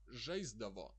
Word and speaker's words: žaisdavo: But when there is a consonant before dav, before the suffix dav, žaisti, žaisdavo, the s somehow is pronounced like z.